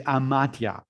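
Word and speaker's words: amathia: the only evil, is amatia, which is spelled A-M-A-T-H-I-A.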